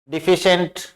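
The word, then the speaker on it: deficient: डिफिशिएंट ये pronunciation है इसका, तो ये डी ई से आवाज आ रही है, शॉर्ट ई की ध्वनि आ रही है।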